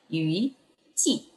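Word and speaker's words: 雨季: Ini adalah Yui Ci. Yui-nya itu sama ya bacanya ya, bukan dengan Yu, tapi dengan Yui, jadi Yui Ci.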